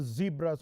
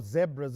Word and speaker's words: zebras: first International Friendly playing against the zebras or zebras if you want both pronunciations are correct of Botswana Neil Neil